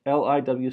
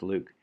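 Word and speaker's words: LIWC: this thing up here liw see that's pronounce Luke that's the linguistic sentiment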